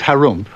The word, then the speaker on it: Harum: in the land of Harum which is pronounced like when you clear your throat there lived an ogre